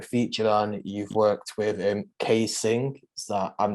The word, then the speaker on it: ksxingh: So I never actually know like how to pronounce it, but I think it's ksxingh, right? It is ksxingh, don't worry, you've got it right.